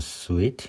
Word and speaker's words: suite: I have my eye on a suite in Baker Street. 베이커가에 있는 그 스위트룸. 이 스위트는 발음이 스윗하고 똑같습니다.